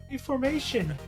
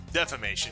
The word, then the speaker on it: defamation: It's deformation. Defamation, but yes.